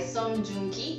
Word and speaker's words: Song Joong-ki: Okay, so The Innocent Man is a Korean drama starred by Song Joong-ki, that's how you pronounce his name, and it's about Kang Haru,